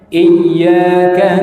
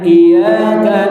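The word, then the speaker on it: إِيَّاكَ: Para ulama mengatakan kalau tidak menekan pada hurufnya kita bacanya iyaka na'budu wa iyaka nasta. Iyaka artinya dus syams, cahaya matahari. Berarti makna atau terjemah daripada kata iyaka na'budu tanpa tasdid, tanpa tekan artinya kepada cahaya matahari kami menyembah, kepada cahaya matahari kami meminta.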